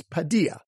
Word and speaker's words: Padilla: Number 65 is Padilla, like our friend Jorge Padilla.